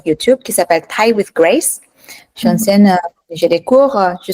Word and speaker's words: Grace: Grace je m'appelle oui en français on dit grâce donc c'est pour ça moi je t'appelle grâce mais en vrai Grace ça serait la façon correcte de prononcer ouais et j'adore apprendre